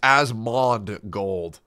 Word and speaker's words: Asmongold: it's as M okay it's asmond gold there's a d there's a d that you forgot asmond gold response to